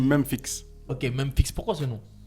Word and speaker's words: Memphix: Ouais, parce qu'en fait, je sais pas si c'est Memphis, mais je sais que, mais vu que ça s'écrit Memphix, Ça se dit Memphix.